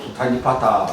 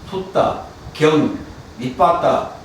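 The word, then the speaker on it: Sutta Nipāta: 우리가 보통 수타니파타 그러는데 정확하게 발음하면 숫다, 경, 니빠따, 모으다. 그 80개의 경을 모아놨는데 그 중에 가장 뛰어난 경이 메타숫다입니다.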